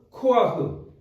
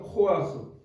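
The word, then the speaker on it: כֹּחַ: 코아흐 코 예 어렵죠 코아흐 예이 히브리 단어는 이런 단어가 있어요 근데 우리가 발음할 수 없는 단어들이이 사람들의 그 구강 구조와 우리가 다른지 모르지만 이렇게 해갖고 이게 약간 위에서 이렇게 붕뜨는 느낌의 발음인데 어쨌든 코아흐 그러니까 우리가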